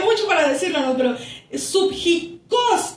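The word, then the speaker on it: ψυχικός: Pero subjicos, con acento en la O al final y con K, que significa naturaleza más baja.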